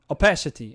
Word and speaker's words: opacity: fine most of the time George headless City opacity all right cool okay is how I pronounce it first sounds better to me opacity